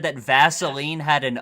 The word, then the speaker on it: Vaseline: the name is that it's spelled it's spelled Vaseline but it's Vaseline like well Billy Vaseline Billy seems to have some conje uh Baseline Vaseline not vasoline if you if you pronounce it like gasoline Vaseline it's always with an E what are you what